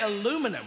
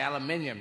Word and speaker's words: aluminium: And now you say aluminum, we say aluminium.